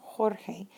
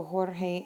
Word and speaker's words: Jorge: G to the e because it put changes that G sound like an H sound Jorge so what do we